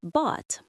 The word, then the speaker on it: bought: Many learners pronounce these like they rhyme with pot or lot. Listen carefully to the pronunciation. Caught, taught, bought. The gh is silent and the vowel sound is long and open like the a in saw.